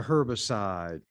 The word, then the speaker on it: herbicide: ground they developed a herbicide some would pronounce the h when it's with herb sh not herbicide herbicide but however you pronounce it it's still the same